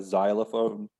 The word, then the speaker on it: xylophone: for whatever reason um there's a few words that have that sound sounds like a zed but spelled with an x like a xylophone yeah xenophobia um